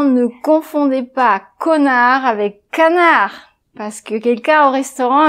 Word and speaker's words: canard: Donc, surtout, ne dites pas « je voudrais un magret de connard », mais vous dites « un magret de canard ».